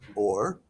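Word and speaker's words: עור: Um, but this is uh this rhymes with the word for light, which is also or.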